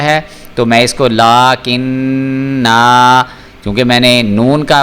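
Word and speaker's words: لَكِنَّا: ہجے کر رہا ہوں، لام کھڑا زبر لا، کاف زیر نون کن، نون زبر الف نا، لاکن نا۔ اب دیکھیں میں نے یہاں پہ وقف کیا ہے تو میں اس کو لاکن نا، کیونکہ میں نے نون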